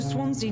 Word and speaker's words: Swansea: Swansea definitely Swansea. works his society contacts for money. That's how you pronounce But it.